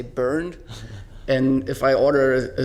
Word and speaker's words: Bernd: Actually, my name is, in Germany, my name is pronounced Bernd, but I always say Bernd.